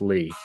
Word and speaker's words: Lea: going with French Legend Charlie Lee Charlie Leah baseball reference has it pronounce Lee oh okay 7.4 War